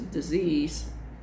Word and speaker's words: dis-ease: So my pronunciation is disease in the true sense of the word, or dis-ease.